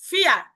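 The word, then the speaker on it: vier: কেন ফিয়া বলতেছি, রটা কেন নিচ্ছি না, কালকে বলেছিলাম রিজন, যে এ আর যদি থাকে এন্ডিং এ তাহলে কিন্তু কি হয়, এখানে র এর উচ্চারণটা আ হয়ে যায়।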